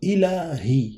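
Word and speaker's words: إلهي: Ilahi, je le prononce bien.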